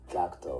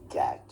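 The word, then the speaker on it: Gackt: know the original pronunciation normally the japanese people call me gakuto right american calls me cat cat yeah yeah kind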